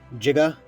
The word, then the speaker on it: Giga: Remember, it has to be pronounced Giga.